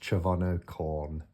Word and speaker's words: Chervono Chorne: just to add in it's chavano corn I've Googled it uh and it's pronounced chono corn but anyway um doesn't